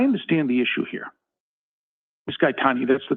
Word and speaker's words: Gaetani: Gaetani, that's the correct pronunciation, is it not?